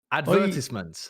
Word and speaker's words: advertisement: Advertisements. I've never even heard of an advertisement in my years. Pronounced in the British way correctly, advertisement.